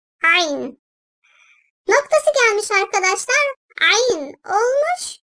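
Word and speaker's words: عين: Ayn, ayn. Boğazın ortasından, gırtlak bölgesinden hafifçe sıkılmasıyla çıkarılan ayn harfi, ince sesliyle kalın sesli arası bir tonda telaffuz edilir. Ayn.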